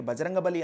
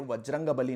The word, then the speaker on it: బజరంగబలి: సరిలేరని దూకర ఆశయ సాధనలో నిజానికి బజరంగబలి అన్న పేరు వజ్రంగబలి నుంచి వచ్చింది. వజ్రం వంటి బలమైన దేహం కలవాడు అని మనం ఇందాక చెప్పుకున్నాం కదా నార్త్ ఇండియాలో వ కి బదులు బ వాడి అక్షరాల ఉచ్చారణలు విడదీసి ఇలా బజరంబలి అని అంటారు.